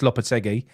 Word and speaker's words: Lopetegui: I got the piss taken out of me for my pronunciation of Lopetegui. Apparently, it's Lopetegui.